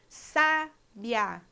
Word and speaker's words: sabiá: pronunciadas em sílabas separadas já a palavra sabiá sabiá a gente tem um ditongo porque o Rio a São pronunciados juntos na mesma sílaba por isso que a